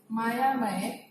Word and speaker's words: मायामय: और एक शब्द देखो, मायामय, मायामय, इसका उच्चारण हिंदी में भी मायामय और उड़िया में भी मायामय, क्योंकि ये जो य है ये बीच में और अंत में आया है, इसलिए इसका उच्चारण य ही हो रहा है, ठीक है।